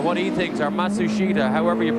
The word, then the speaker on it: Matsushita: Oh, he tells Matsushita what he thinks, or Matsushita, however you pronounce his name now. Yeah, they change it about every 6 months. They say the pronunciation is now Matsushita.